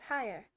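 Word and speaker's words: Haigha: happy his name is higher he pronounced it so as to rhyme with mayor I love my name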